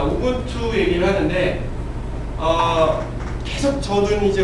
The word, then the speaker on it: 우분투: 참고로 유분투 아닙니다. 우분투라고 발음해 주세요.